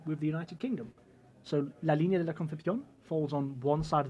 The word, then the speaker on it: La Línea de la Concepción: La Línea de la Concepción, right? Okay, so perfect pronunciation because you lived in Andalusia.